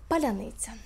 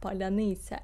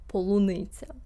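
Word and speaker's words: Паляниця: After several Russians pronounced Palianytsia as strawberry polunitsa, it became an increasingly popular meme across Ukraine and diasporas worldwide.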